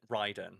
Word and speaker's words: Raiden: raider i can never write you're supposed to pronounce it ryden it's riding in metal gear but raiden immortal